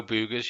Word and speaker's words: Boogers: Marco Boogers, yeah.